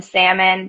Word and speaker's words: salmon: I know there's an L in salmon, but you don't I pronounce just it.